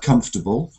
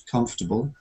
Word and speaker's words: comfortable: we need to think about the stress pattern like comfortable comfortable um and there's another